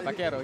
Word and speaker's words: vaquero: Can you help me pronounce that? Yeah, vaquero.